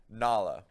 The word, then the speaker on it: Nala: Nala. Like the spell that.